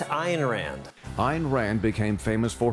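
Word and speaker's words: Ayn Rand: Rand or an Ron or over the moderns pronounce it IR Rand not an Rand a Rand iron Rand I'm told it's iron Rand iron Rand became famous for her philosophy of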